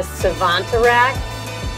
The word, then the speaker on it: Savantarack: We're gonna call this one the Savantarack. It rhymes with Zazarack.